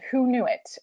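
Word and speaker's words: Hoonuit: Clara County it's called who knew it HIO Nui T and it's pronounced who knew it as in like who knew it we did and so this is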